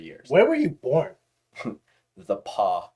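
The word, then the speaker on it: The Pas: The Paw, Manitoba. Straight up. What the? Paw, The Manitoba. Paw? Yeah. Like, how's that it's spelled? The space PAS Manitoba. What the Yeah.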